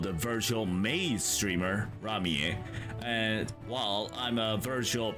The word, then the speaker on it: Ramie: Yeah, in Japanese pronunciation it's pronounced Ramie, I guess.